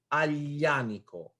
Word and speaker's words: Aglianico: You gotta put your tongue on your palate and say yeah. Aglianico. So it is silent, but if it was A, it will be Aglianico.